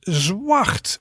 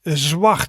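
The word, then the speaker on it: zwart: black and the color black in dutch is zwacht zwacht so that's quite a different word than in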